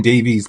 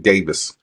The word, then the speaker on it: Davies: I keep saying Davies because of the way it's written, but he pronounces it Davis.